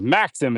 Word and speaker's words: Maxim: And Maxim is how it's pronounced.